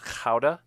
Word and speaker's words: Gouda: pavardi cheese monster cheddar gouda i'm sorry it's actually pronounced howda and i'm gonna eliminate you gotta call it tough ask your dutch friends all right we're down